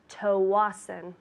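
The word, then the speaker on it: Tsawwassen: for this at home I'd like to send a package to tawasen tawasan that's t s a w w a s s e n pronounced tawasan you're ready I think so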